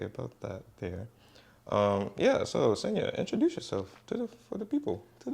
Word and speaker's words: Senea: So Senya, introduce yourself to the people. Okay. My name is Senya. It rhymes with Kenya.